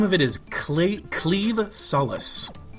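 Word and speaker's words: Claimh Solais: a very strange pronunciation the word that is spelled c l a i MH is actually pronounced cleave kind of like a sword cleaving things which is kind of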